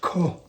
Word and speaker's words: COOH: Of recent note, B.B. COOH, BB Coo? Oh, he's got it in parentheses here, pronounced K. BB K.